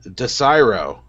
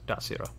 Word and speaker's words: Desiro: He's from Desiro, Zakar. And Zakar, you also know that it is pronounced Dasiro.